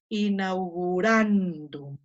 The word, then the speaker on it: inaugurandum: estoy poniendo en rojo, solamente las que tienen el macrón, ahí va a caer el acento.